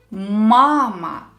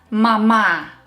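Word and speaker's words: мама: are learning for example let's take a simple word mama here the first syllable is stressed mama not mama not the second syllable the first one the problem is if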